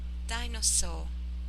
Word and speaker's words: dinosaur: Dinosaur. dinosaur, Not a sharp S. It is just dinosaur. wonderful like that.